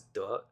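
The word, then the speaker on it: 德: And that would make you a person who has duh, right? A person who has virtue. Um, which is pronounced with the second tone, which is an upward inflection.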